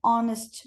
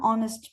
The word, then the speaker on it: honest: But we have to say an honest man because the H is silent. So we have to say an honest man.